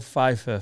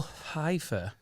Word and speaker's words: Pfeiffer: Has anyone seen the famous 1995 film Dangerous Minds with Michelle Pfeiffer? A lot of people pronounce that Pfeiffer because they don't know it's a silent Yeah, P.